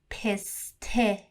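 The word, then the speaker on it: پسته: It's one of the most prominent export products of Iran, and it is called piste.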